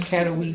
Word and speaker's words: Katowice: How do we pronounce that one? Is it Katowice? Katowice.